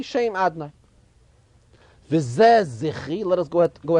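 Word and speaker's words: Adonai: We know that the shame of Hashem, the way we say it, whenever we see Yud Kei Vav Kei, we pronounce it Adnai.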